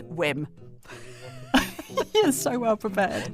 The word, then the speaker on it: Wim: so I talked about Vim Hof the scandy turns out Wim Hof is Dutch and his name is pronounced whim you're so well prepared